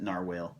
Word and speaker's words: narwhal: the story not quite narwhal some people pronounce it narwhale and that's okay this book was actually